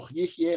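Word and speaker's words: יהיה: So he's saying, Lo, Yehye. This looks a lot like the Father's name, but it's Yehye.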